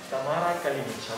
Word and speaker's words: Tamara Kalinic: Enjoy the Tamara Kalinic. Correct! And the great pronunciation.